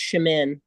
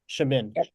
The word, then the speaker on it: Shamin: your hand raised yes my first name is pronounced shamin shamin I raised my hand